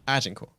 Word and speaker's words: Agincourt: We'll show Plymouth and we'll show Agincourt. Agincourt? Agen. Agincourt. Yeah. Yes. Of course, that's not how you say it in French, but the British won that battle.